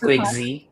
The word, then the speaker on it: Quick Z: He has launched innovative products such as Invo Chat, Invocom, Invo Desk, Invo ERP, and how do I pronounce that? Quick XI? I'm going to ask It's Quick Z.